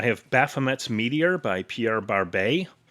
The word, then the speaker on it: Barbet: Uh I have Baffomet's Meteor by Pierre Barbet. Since it's spelled Barbett, but because his name is Pierre, I'm assuming it's Barb.